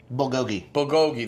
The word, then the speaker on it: bulgogi: And then my buddy got the, how do you pronounce it? Bulgogi? Bulgogi, that's right.